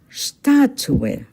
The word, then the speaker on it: Statue: Statue in German, Statue. Take note, the stress is on the first syllable, Statue.